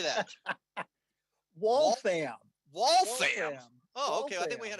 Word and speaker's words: Waltham: that in waltham how do you say that wallfam okay i think we had wallfam misspelling there